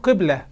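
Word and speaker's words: قبلة: He does not know the pronunciation of the word ''qiblah''. He pronounces it 'qublah'' (kiss).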